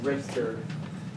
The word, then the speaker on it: Richter: And it's pronounced Richter.